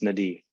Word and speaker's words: Nadieh: It's pronounced Nadieh.